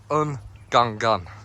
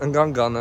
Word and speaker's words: Ngungun: That is pronounced. It's Mount Ngungun. Ngungun. Guy at the station was like, "Oh, you're going up Mount Ngungun?"